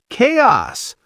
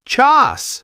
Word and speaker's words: chaos: Chaos. Chaos. Not chas bouquet.